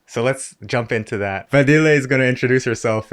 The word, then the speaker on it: Fadile: This is Fadile. Yes, correct. It's a hard name. I don't blame you. Yeah. Okay, the pronunciation.